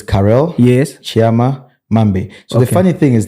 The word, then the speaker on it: Tshiama: it's Chama Carol or so it's Carell yes Chama so the funny thing is that as I was saying pronounce it the very the way it should